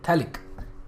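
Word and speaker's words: phthalic: P silent है, PH in fact silent है, थैलिक.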